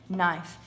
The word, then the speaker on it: knife: is silent the same with in the word knife i have a knife in my hand there's a k in front of it but we don't say knife we say knife so this the k n so i'm going